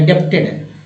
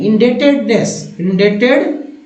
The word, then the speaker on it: indebtedness: देखिए बी जो है साइलेंट है, अच्छे धुरंधर जो है ना यहाँ फेल हो जाएंगे, मतलब जो मुझे भी शुरू लगता था भाई इंडेप्टेड बोलते हैं, इंडेप्टेड नहीं, इंडेटेडनेस।